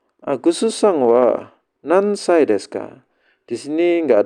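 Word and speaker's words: 何歳: Wa nansai. Cara nanya. Ini kanjinya nani. Karena ada kata benda disebut cara bacanya nan saja. Nansai.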